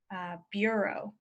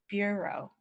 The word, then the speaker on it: bureau: save it the next one is difficult it's Bureau Bureau now Bureau is like an agency of governmental